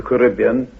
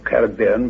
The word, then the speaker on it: Caribbean: a string of islands where the West Indies, the Lyontian plane is now the Caribbean or Caribbean, whichever pronunciation you prefer, sea.